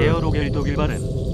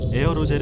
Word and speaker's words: 에어로겔: 에어로겔 독일 발음. 에어로젤 영어 발음 단열재라고 생각하시면 됩니다.